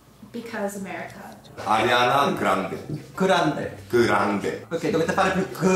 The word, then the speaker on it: Grande: Why is Grande not Grandi? Because why is it Versace not Versace, but Grande is Grande not Grandi? Yeah, why? Because America. Ariana Grande. Grande. Grande.